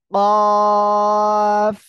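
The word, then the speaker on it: ق: জিহ্বার গোড়া, তারপর আবার উপরে ওই তালুর সঙ্গে লাগাবো, লাগিয়ে আমরা এই অক্ষরটা উচ্চারণ করব। কফ।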